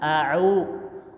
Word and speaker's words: أعوذ: A'u, ada hamzah a di luar, ain ditelan. Jadi sama-sama satu letak sebenarnya. Cuma cara pengucapannya.